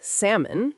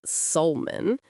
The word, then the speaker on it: salmon: Words like salmon, which is pronounced salmon, not sulman, or buffet, which people pronounce differently in different regions.